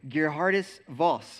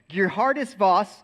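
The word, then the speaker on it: Geerhardus Vos: wrote his name down because I could barely pronounce it it's a Princeton Theologian his name was GE Hardis Voss and that's how you say it I looked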